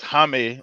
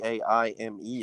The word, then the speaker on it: Jaime: him Jamie until way later, because it was Jaime. They were saying because in Spanish the fucking J is silent. It's like a H Well, sound Jaime type is shit. also spelled differently. It's Jaime as opposed to Jamie.